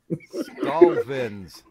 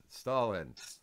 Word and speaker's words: Stalvin's: 100% correct. Stalvin's, not Stalin.